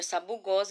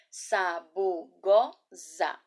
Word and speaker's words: Sabugosa: sílaba falar palavra novamente Sabugosa o s ele é usado entre vogais quando é necessário que essa letra é essa ela tem o som de z então ela vai ser